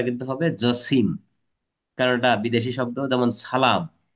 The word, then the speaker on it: জসিম: practical কথা জসিম জসিমউদ্দিন নয় কিন্তু বানানটা কিন্তু উচ্চারণটা কিন্তু হবে জসিম কারণটা বিদেশী শব্দ যেমন সালাম যেমন মাসুদ খেয়াল